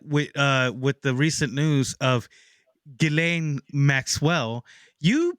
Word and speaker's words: Ghislaine: I'll bring out a deep cut with the recent news of Ghislaine Maxwell. You pronounced that really beautifully, and I hated you for Ghislaine.